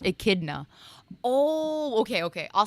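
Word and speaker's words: Echidna: You're saying Ikidna? It's pronounced ikidna.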